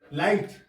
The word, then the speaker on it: light: तो लाइट का मतलब प्रकाश, LIGHT, लाइट। GH साइलेंट हो गया ना इसमें, हाँ, लाइट हो गया, GH साइलेंट है इसमें, ठीक है।